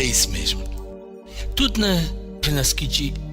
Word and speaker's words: renaskiĝi: A palavra Renaskiji, Naski quer dizer nascer. Renaski é renascer. O sufixo gi, com G de gato, ou G de gato, e o sufixo significa algo feito de fora para dentro.